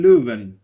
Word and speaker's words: Leuven: uk but started in leuven it's a it's called leuven in um dutch or louvain in uh french but i pronounce it